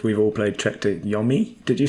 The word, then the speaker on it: yomi: way i would say yummy why would it be o because there's no e after to emphasize the letter of the o it'll be yomi every day of the